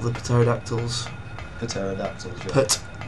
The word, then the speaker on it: pterodactyl: Whatever they're called, the pterodactyls. Pterodactyls, yeah. Put. Silent P in it.